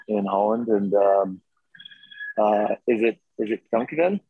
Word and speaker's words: dankjewel: And is it dankjewel?